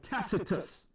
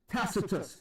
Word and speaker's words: Tacitus: And then you have another historical account by Tacitus.